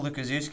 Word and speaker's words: Lukaszewski: So it's Lu-ka-zoo, like where the animals are, and ski. And that's how you say my last name.